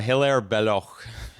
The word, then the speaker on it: Hilaire Belloc: In English, it is Hilaire Belloc. In French, it's Hilaire Belloc.